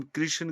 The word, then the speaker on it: कृष्ण: कृष्ण को कृष्णा कहने से तो अर्थ का ही अनर्थ हो जाता है क्योंकि कृष्णा द्रोपदी का नाम था। कृष्ण का नहीं।